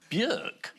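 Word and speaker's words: Björk: Robert peston and BK BK yeah well I worked with Burk and she told me that's how you pronounced my name really yeah and I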